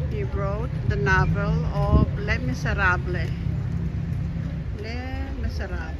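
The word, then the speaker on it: Les Misérables: babasahin niyo is ah less miser pero sa kasi nga Fr French le miserable hindi binibigkas yyung s sa ganon so He's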